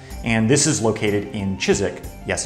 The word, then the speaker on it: Chiswick: least the 1600s and this is located in chizik yes it's pronounced Chiswick not Chiswick in West London so the brewery that's currently